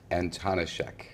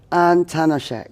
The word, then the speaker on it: Antonishek: your surname, how on earth do you pronounce that? Antonishek. Antonishek. Mm-hmm.